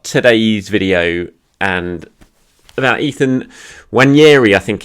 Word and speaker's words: Nwaneri: video and about Ethan when yerry I think it's pronounced there's a silent n there's plenty of people have told me on him so I think it's one year he obviously record breaker just an unbelievable 50.